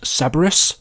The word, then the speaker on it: CRBR-S: We've then got the wonder weapon, which is pronounced Cerberus. It is CRBR-S.